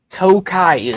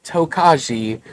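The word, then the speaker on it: Tokaji: It is spelled with a J in there. It is not toki or tokajai. J is silent.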